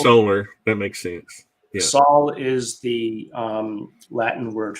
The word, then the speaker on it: Sol: curious you mentioned the soul Foundation you all pronounce it SA or Soul I've heard it pronounced oh as in like solar solar that makes sense yeah Saul is the um Latin